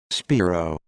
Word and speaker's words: Spiro: me volume come on yo y'all always got pronunciation of names all i need to know spiro yes i would be awesome at a game